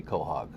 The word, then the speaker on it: quahog: How do we get inside the sandwich or inside the quahog? First of all, let's get this figured out. Okay. Official pronunciation is? Quahog. Not quahog. Quahog.